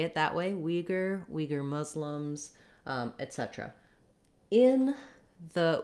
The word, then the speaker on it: Uyghur: We have first syllable stress in the American English pronunciation, Uyghur. So you would say it that way, Uyghur, Uyghur Muslims, etc.